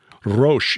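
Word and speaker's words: ראש: the hebrew word and it's not rosh i had to look it up and i hear it pronounced by an actual hebrew speaker it's excuse me i can't roll the r's roche is the uh the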